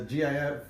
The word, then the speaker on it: GIF: tropical its graphical the the gif is graphical interchange format yeah it's not like it's it's not tropical yeah graphical so it's a hard G hey guys really